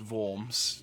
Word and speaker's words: Worms: the countryside near worms that might be pronounced vomes but I'm going to call it worms we're good to see